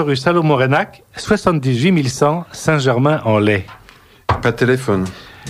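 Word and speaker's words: Reinach: Rénac, ça s'écrit R-E-I-N-A-C-H.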